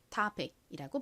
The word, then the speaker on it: topic: 한국식으로는 토픽, 그리고 미국식 원어 발음으로는 O를 아 소리에 가깝게 읽어서 topic이라고 발음하죠.